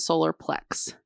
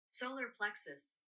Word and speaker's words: solar plexus: Solar plexus. So, it is us. There's a US on the end.